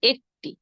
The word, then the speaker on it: এক: শব্দ লিখছি এর প্রথমটির উচ্চারণ হবে এক পরেরটির উচ্চারণ হবে একটি আমি লিখে দেই আবার উচ্চারণ সহ একটু অপেক্ষা